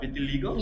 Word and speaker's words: vitiligo: Okay, so it's called, am I pronouncing this right? Vitiligo? Yes, that's Vitiligo.